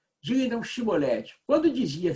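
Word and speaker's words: שיבולת: Então lhe tornavam, dize, pois, Shibolete, aí tinha que pronunciar aquele CH ou o SH, não é? Diga então Shibolete. Quando dizia Cibolete, não podendo exprimir bem a palavra, porque eles não conseguiam fazer esse som, né?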